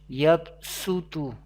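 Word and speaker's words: يَبْصُۜطُ: The first word Yabsutu, para or lesson number 1 and surah name Al-Baqarah, surah number 2, ayat number 245.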